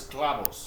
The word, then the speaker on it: clavos: And the thing is clavos. Clavo. And that's with a V, right? Clavos. But we say it like a B sound, kind of, right?